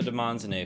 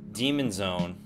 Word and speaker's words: Demonzoné: No, that's not Demon Zone. That's Demonzoné. It's not pronounced. We want to make your house a Demonzoné, not a Demon Zone.